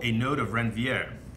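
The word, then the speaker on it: Ranvier: That's called a node of Renvier. I like to put like a French accent on it. You can pronounce it any way you wish.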